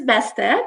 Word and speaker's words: Beste: My name is Beste, pronounced like a fast best day of my life, and I work in